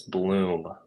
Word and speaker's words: Bloeme: okay and uh and before anybody gets any ideas on how to pronounce my last name it's bloom okay so it's Bloom